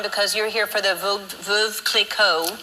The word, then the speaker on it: Veuve Clicquot: Okay, so you're here in town for a short time because you're here for the Veuve Clicquot. How do you say it? Is it Veuve or Veuve? It's Veuve Clicquot.